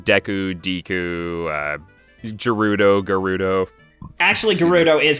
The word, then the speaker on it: Gerudo: Actually, Gerudo is correct. Is that how they pronounce it in Breath of the Wild? Because I feel like Yes. that's probably... Okay. Yeah, it's Gerudo, not Gerudo.